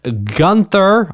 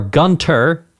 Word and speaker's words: Gunther: Okay, let's get this thing going with Gunther or Gunter, depending on your pronunciation, Bay.